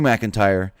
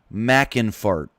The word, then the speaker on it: McIntyre: what he said Drew mckin fart how I know I'm not the best man with words but how do you say drew mcken fart instead of Drew McIntyre that's not even close